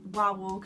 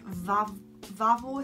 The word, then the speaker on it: Wawel: Actually, no, it's not called Wawel. It's called Vavel, I think. So it's pronounced Wawel, Wawel. Well, I can't. It's such a tongue twister. But the Polish pronounce it with like a V.